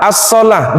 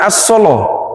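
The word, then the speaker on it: الصلاة: Sallah, as-salah, bukan as-solo. Nggih?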